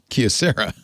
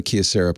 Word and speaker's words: Kyocera: about how to pronounce Kyocera. Kyocera. The KYO at the beginning of Kyocera is apparently pronounced the same as the KYO at the end of Tokyo, but I know we're doing it wrong.